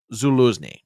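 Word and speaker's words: Zaluzhnyi: between President and popular Commander Val and it's pronounced Zulus okay now I don't know much about about Ukrainian politics or Ukrainian generals or whatever else but here's what I've been told this Zuli is probably one of the most popular military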